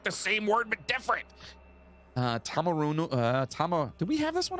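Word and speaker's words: Taumarunui: Tamarunu. Did we have this one already? I don't know. Hold on. I'm looking. Tamarunui.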